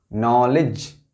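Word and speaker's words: knowledge: इन सभी वर्ड्स में के साइलेंट है। देखें आप। नो। नॉलेज।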